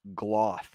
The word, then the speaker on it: gloth: Said, by the way, it's pronounced gloth, like cloth.